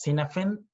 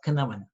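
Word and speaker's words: Cynefin: have already seen it this is pronounced not as Cinna Fionn it's pronounced as Kinnaman it's a Welsh word Davis Nolan actually conceptualizes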